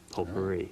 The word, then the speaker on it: potpourri: But I can hit this button labeled say and confirm that it is pronounced potpourri.